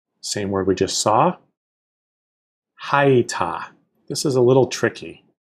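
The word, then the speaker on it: הָיְתָה: So, ha, y, ta, although when we say this, we'll really just say haita, as if it's two syllables.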